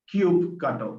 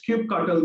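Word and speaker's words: kubectl: apis and these apis are accessible by a cube cutter which is a tool and there are multiple ways of pronouncing it all that it does is keep cuddle gives you an opportunity to interact with this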